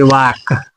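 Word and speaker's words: walk: अगला है वाक यानी कि के के पहले फिर से एल आ गया तो इसीलिए एल साइलेंट हो जाएगा तो इसको पढ़ेंगे वाक।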